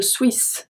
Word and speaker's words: suis: Je suis, so we don't say je suis. We say je suis, suis, so we do not pronounce the S.